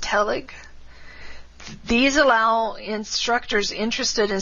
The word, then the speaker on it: TELIG: The most active one is Technology Enhanced Language Learning Interest Group, which is pronounced TELIG.